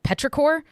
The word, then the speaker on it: petrichor: Yeah, it's called petrichor, I believe is how it is pronounced.